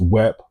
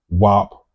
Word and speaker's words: Wep: The word for today is Wep. Wep is the word of the day, and it can be pronounced as Wep, Wop, or Op, or Ep.